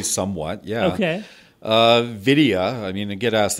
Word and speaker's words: Vidya: Vidya, I mean, I get asked this all the time, like, what does that mean?